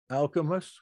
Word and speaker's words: Alcimus: In these languages, the C before a vowel still sounds like K, Alcimus.